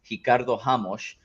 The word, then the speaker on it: Ricardo Ramos: He was going up against Ricardo Ramos, which also, you like that pronunciation? Portuguese.